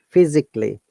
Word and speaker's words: physically: If a word has ending A-L-L-Y, A short sound, we do not pronounce A. So it should be technically, physically, basically.